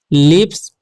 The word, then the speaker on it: lips: के बाद S है तो इसे पढ़ेंगे हम लिप्स। ओके, यहाँ पर लिखा हुआ है JOKES। ठीक है, तो J का उच्चारण ज होगा।